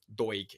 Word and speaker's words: Doig: missing um deutsch from doig even not a soft g is a hard g from from hibs as